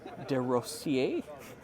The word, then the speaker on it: DeRossier: I'm joined with Steph DeRossier. That's right. Did I say it right? Yeah, you did.